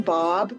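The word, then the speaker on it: Baab: you my name's bob people always wonder how to pronounce my last name but it rhymes with saab cars so that's a good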